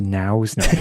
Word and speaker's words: Nose: Then Nose is pronounced nows.